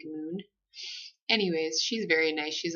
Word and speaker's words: Morn: who did the massage her name is Moon kind of like it's spelled like m o RN but it sounds more like Moon anyways she's very nice